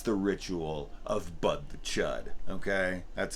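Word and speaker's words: Chüd: ritual of Bud the Chud. Okay, that's how it reads in the book. Although it has an umlaut over it, so I think it would be pronounced chewed, but I don't care.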